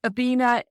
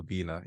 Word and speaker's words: Obinna: Stars, and who is Obinna. Yes. Now, have I pronounced that correctly? Completely fine, Belinda. Obinna, yeah. Perfect.